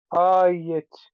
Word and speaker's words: quiet: syllable number one has how many syllables just one syllable why it's but the way you're saying it I'm hearing two syllables how many because because you and I give you like the uh it's it's not a single vowel it's a double vowel if you get me